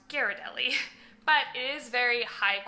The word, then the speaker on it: Ghirardelli: people pronounce this brand Ghirardelli. It's made in San Francisco, and being from San Francisco, I can tell you it's pronounced Ghirardelli.